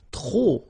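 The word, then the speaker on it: trop: If you want to use tro and tro means too many okay then you will have to put the and the noun without the article. Okay remember too many don't pronounce the final pay to the and the noun without the article.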